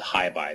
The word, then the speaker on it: HyBi: Um so I got um encouraged to participate in a working group uh at the IETF called Hibby and that's spelled HYBI um that is standardizing one of